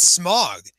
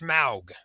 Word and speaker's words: Smaug: Oh yeah, so it's not smog. It's not pronounced smog. If you actually listen to, like you read into it, it's pronounced Smaug.